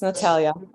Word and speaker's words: Natalia: All right, this is the city of Detroit versus Natalia. I got the pronunciation right? Yes, Your Honor, it's Natalia.